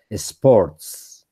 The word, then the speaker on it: sports: Lucenid, remember that you have to pronounce the last consonant on the word. In this case, sports.